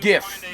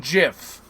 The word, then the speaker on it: gif: known as a gif it's pronounced if not jiff no yes thank goodness